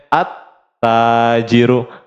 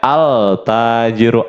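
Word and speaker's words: التاجر: Contohnya di sini ada huruf ta, maka dibacanya at-tajiru, at-tajiru. Nggak boleh kita bacanya al-tajiru, al nggak boleh.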